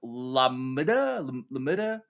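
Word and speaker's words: LaMDA: LAM MDA LA. So L is capitalized, A is lowercase, MDA capitalized. So like Lambda.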